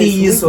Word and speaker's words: Ntiyiso: with that end, not yes, Ntiyiso. with an Ntiyiso yes. A lot of people, they always struggle to pronounce the name.